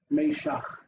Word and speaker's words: Meshach: So it's two syllables. The mem and the yod, and then shak is the second syllable. So the first one is Meshach. Yep. Meshach.